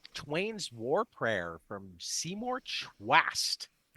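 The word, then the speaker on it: Chwast: Mark Twain's War Prayer from Seymour Twast. That's a great name. Phantoraphics, May 22nd. Can you spell that for me? Just like it sounds. CH W S. Yeah. Twast.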